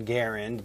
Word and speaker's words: Garand: So I would argue when talking about the man, you would say John Garand, because Garand is clearly how he pronounced his name.